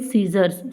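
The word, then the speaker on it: scissors: Barbers cut here with सीजर्स। सीजर्स का यूज़ करेंगे हम, सीजर्स ना कि सीजर, लेकिन हम बोलने में हम जनरली क्या बोलते हैं, सीजर, बट सीजर नहीं होता, सीजर्स होता है।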